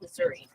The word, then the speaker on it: Missouri: Missouri, but it's pronounced Missouri.